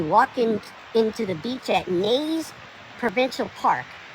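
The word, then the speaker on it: Neys: We walk into the beach at Nays Provincial Park. It's spelled N-E-Y-S. Is that Nays or well, the GPS said Nays.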